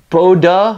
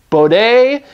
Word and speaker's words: Bode: different ways the true the most common pronunciation is just bode plots so I'm gonna go with bode here and I think if